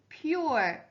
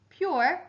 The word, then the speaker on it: pure: opposite of dirty is pure your er the magic e turned the o into the u sound pure rhymes with shore the opposite of loud